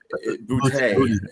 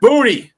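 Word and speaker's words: Boutte: I like how And I like how you pronounced uh name there. Bouty. Booty. It's Booty.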